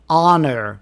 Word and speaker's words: honor: In most words, the H is pronounced except for our honest honor and air.